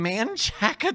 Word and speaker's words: Manchaca: It's in Manchaca, Texas, which is another city. And it's not pronounced the same way as the road.